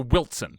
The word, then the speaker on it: Wilson: Not when you spell it, but Wilson is that's a big one. Yeah. That's a big one. You have the silent T.